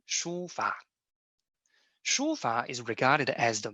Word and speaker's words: 书法: In Chinese, the pronunciation is 书法.